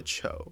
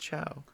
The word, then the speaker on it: Chou: So I guess it's pronounced Chow. And then I always grew up thinking it was Chow. And then people would be like, Cho? I'd be like, no, it's Chow.